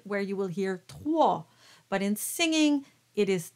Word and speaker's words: trois: So the word trois is pronounced slightly darker than how you would pronounce cadet.